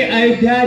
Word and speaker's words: अयोध्या: ए, क्या शब्द का उच्चारण शुद्ध करो। श्री अयोध्या जी, सीढ़ी बनी हुई है